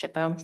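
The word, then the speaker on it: SHPO: You'll see the acronym sho kind of pronounced shipo.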